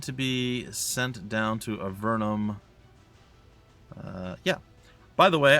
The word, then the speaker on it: Avernum: going to go sorcerer it's a vernum not avernum it doesn't really matter